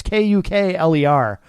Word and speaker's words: Kukler: This is Eric Kukler, or Kuckler. I'm not sure how to say his last name. It's Kukler.